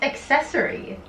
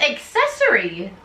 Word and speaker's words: accessory: It's accessory. Like adding accessories, not accessories. It's not ASS, it's ACC.